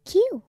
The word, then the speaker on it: queue: after the other and it is spelled q u e u e not the alphabet Q Oh we must wait